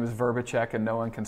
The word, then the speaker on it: Vrbicek: and last name but my last name is verbachek and no one can spell it so fan and flame is is also